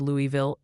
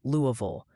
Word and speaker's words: Louisville: And apparently I butchered Louisville in the last update. Multiple viewers are helpfully informing me it's closer to Louisville.